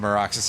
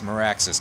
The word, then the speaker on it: Maraxis: Uh Maraxis, although I'm sure there's probably somebody who's like, "Actually, it is pronounced Marxis." And I'll be like, "Fuck you. It's Maraxis. Get out of here."